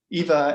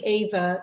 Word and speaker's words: Eva: yeah, I say Ava just because Ava. it would have been that in German, Yeah, yeah.